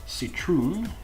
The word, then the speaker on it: citroen: In citroen, it's pronounced like an S.